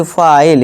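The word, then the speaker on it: file: इस तरह नाइन, नीने नहीं नाइन, ई को भूल जाना, ई का कोई अपना उच्चारण नहीं होगा, ये भूल जाओ। नाइन यानी कि 9। इस तरह से फिले नहीं, फाइल यानी रेती।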